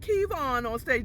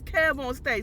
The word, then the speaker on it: Kev On Stage: Okay, not Kevon on stage, that's Kev on stage.